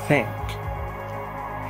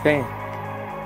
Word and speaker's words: thank: Ao passar do tempo, vocês vão pronunciar assim, não vão precisar colocar a língua para fora, toda a língua para fora, não. Okay? Com o passar do tempo, vocês vão pronunciar sempre dessa forma, thank, thank you, tá vendo?